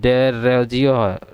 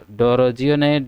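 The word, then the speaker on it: Derozio: तो देखिए पहला जो है ड्रोजियो, ठीक है, डेरोजियो, यहाँ डेरोजियो है, डोरोजियो नहीं डेरोजियो है, ठीक है, देख लीजिएगा थोड़ा स्पेलिंग डेरोजियो है।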